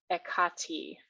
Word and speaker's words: Hekate: There is a hymn to Hekate, and in Greek, her name is pronounced Hekate.